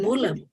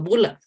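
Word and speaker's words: bulla: So it's like pronounced like just bula? Yes. When you have bula like E like this, it's just the difference with this is British English and this is American English. Okay. So Okay. just one vowel is the difference, but the pronunciation is the same.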